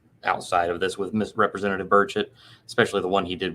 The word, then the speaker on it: Burchett: Burchett, if that's how you pronounce his name. Burchett, yeah.